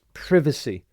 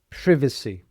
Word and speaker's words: privacy: And the next word related to cyber security is privacy. Privacy. So the the stress is on the I and note again the C sounds like an S.